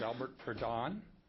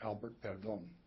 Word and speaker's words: Albert Pon: Brownstein good morning uh my name name is Albert Pon that's the pronunciation that's fine and the uh Central Valley pronunciation is Albert perom uh I'm pleased to